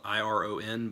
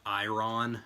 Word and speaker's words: iron: a lot of English iron is spelled iro n but it's not ion or I run it's iron which would be like I you are in iron and I think iron